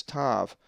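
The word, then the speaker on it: ταῦ: The 19th letter of the Greek alphabet is the upper and lower case tav, which is always pronounced t as in top.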